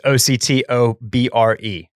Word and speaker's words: Octobre: And we were talking about the brother brand to the French label Cézanne, which, if you're reading it phonetically, is Octobre. It's Octobre. But we're doing a very Texan thing where we say everything with a Spanish accent.